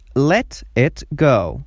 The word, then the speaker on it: let it go: اصطلاح بعدی let it go، که در گفتار تی وسط با شکل دی تلفظ میشه، بدل ازی که در بین دوتا vowel letters قرار گرفته.